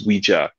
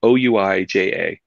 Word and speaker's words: Ouija: So Ouija. A lot of people thought that the name comes from 2 words, oui in French and ja in German. Yes, yes. Not true. But it's pronounced that way.